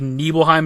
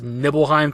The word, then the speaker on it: Nibelheim: myself saying niebelheim and nibbleheim which i believe nibelheim is the proper way of saying it but i've always read it as nibbleheim throughout my entire life similar to like final